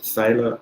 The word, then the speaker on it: Thaler: I pronounce it Thaler. I'm thinking possibly could be pronounced in different ways.